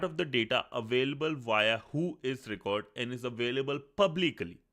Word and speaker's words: WHOIS: Who is not an acronym, is pronounced who is.